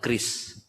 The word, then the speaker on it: QRIS: Singkatannya QRIS, kami membacanya adalah KRIS.